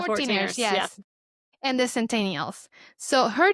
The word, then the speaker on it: 14ers: of the Colorado for how do you say the 14ers 14ers yeah the 14ers and the centennials so